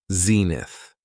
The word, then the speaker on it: zenith: It has two syllables and the stress is on the first syllable. Zenith.